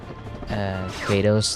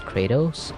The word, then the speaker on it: Kratos: It is interesting that Americans still pronounce Kratos' name as Kratos instead of Kratos, something like that.